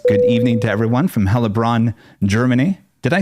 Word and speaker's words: Heilbronn: Helbronner Super Chat says, good evening to everyone from Helbron, Germany. Did I say that correct? Helbron. Yeah, Heilbronn, I think. That's how you say it.